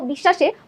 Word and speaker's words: বিশ্বাস: ঠিক আছে, বফলার কারণে আমাদের বিশ্বাস মাঝে যখন ছিল, দেখো এই বানানটাই দেখো, বিশ্বাসে বফলাটা আছে মাঝে, যখন মাঝে থাকে তখন আমরা উচ্চারণ করছি কি বিশ্বাস, দুইবার শয়ের উচ্চারণ করছি।